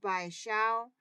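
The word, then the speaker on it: 白芍: Next up, white peony root, which is pronounced bai xiao, and this is the root.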